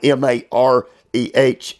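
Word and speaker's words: mareh: And the word for countenance, it is spelled M-A-R-E-H, Mare, and it means 35 times in our Bible, appearance.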